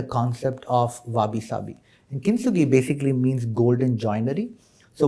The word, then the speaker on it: Kintsugi: There is a chapter titled, if I'm pronouncing it right, Kintsugi. Kintsugi.